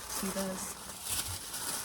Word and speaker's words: Teva: if it's like, I don't know, brand of Tevas. I know it's pronounced Teva, but I've said Teva my entire life.